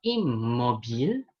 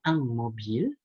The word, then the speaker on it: immobile: Lalu selanjutnya ada immobile. Kita mungkin akan mengiranya ang mobil, tapi yang benar immobile.